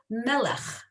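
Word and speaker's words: מֶלֶךְ: So is it Is it ch or k? Well, it depends on where you're from and how you say it, honestly. Because you can see here they have ch and they also have kh. So I was taught it as a ch, right? It's very guttural, right? But not everybody says it exactly that way, honestly. But they'll know what you're saying.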